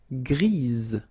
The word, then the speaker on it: grise: for the feminine form, grise. Remember? Grise. Alright? So when you add this E, basically it gives you the pronunciation or the possibility to pronounce the previous letter here. It's Z.